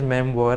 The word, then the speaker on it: memoir: Actually, memoir, the pronunciation is memoir. I just checked.